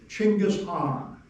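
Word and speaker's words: Chingis Khan: It'll be spelled C H I N G I S K H A N and and the K H A N and the K is silent. So, Chingis Hong is how that's pronounced now apparently.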